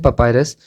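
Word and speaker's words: papyrus: सो जो इजिप्शियंस थे उन्होंने पेपर बनाया किससे, एक प्लांट का नेम है पपायरस, इसका प्रोनाउंसिएशन है पपायरस।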